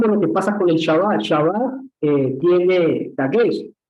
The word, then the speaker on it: Shabbat: En la letra K, que simboliza la letra K, al poner un dagesh, acentúa la letra, es decir, que le da como fuerza y es como si se pronunciara dos veces.